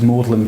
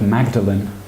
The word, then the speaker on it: Magdalen: Another, probably the classic example of that is Magdalen College in Oxford, which is spelt Magdalene. And if you call it Magdalen College, you're clearly not an educated person.